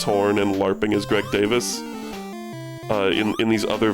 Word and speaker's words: Davies: Greg Davis. They always pronounce it Davis, but it's spelled Davies.